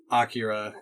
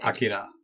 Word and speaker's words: Akira: Akira. I don't read kanji either. Yeah, but from what I understand, it's meant to be more of a 3-syllable word than the 2-syllable that I often say.